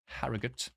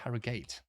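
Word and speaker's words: Harrogate: then we got middlesbor harut or is it harate I've heard both and York um in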